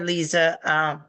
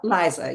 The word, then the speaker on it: Lisa: Hey, Lisa, is that how you pronounce it? Liza, yeah.